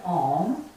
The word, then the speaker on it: Om: And Om, as Om is 3 syllable, the primordial vibration of the universe. So it's A, U, M.